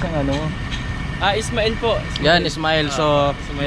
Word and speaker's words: Ismail: Ano ba yung pagkabigkas ng ano? Ismail po.